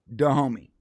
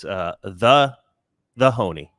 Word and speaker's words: Dahomey: Dahomey. Basically, it was the biggest tribe in Africa at the time. I believe the way that white people pronounce it is the Honey.